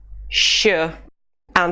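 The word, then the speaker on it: ш: We pronounce it sh, and the letter is sha.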